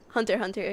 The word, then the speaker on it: Hunter x Hunter: x Hunter a lot Hunter Hunter you know I mean listen every every person pronounces the X I know so you're not supposed to but still I'll uh